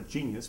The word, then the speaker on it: genius: He has a genius, which is spelled genius in English. I don't even have to put it on the board, a genius, but it's pronounced genius.